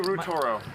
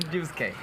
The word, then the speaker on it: Ryusuke: Normally, so I don't have to call you Rutoro. Rutoro? What's your, how, Ryusuke? Ryusuke. Ryusuke. My name is Ryusuke.